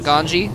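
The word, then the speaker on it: Ganzi: So if you have players with a Z in their name, Like Ganji. like Ganji, that's why we call it Ganji, because that's how the Koreans pronounce it.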